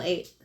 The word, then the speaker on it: eight: how do you spell eight e i g h t that's true um yeah I didn't include eight because it has a long a sound even though it's e i it's an AI so but what I'm